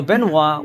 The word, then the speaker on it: Benoit: but you know what to respect french culture and french pronunciation so benoit we don't know who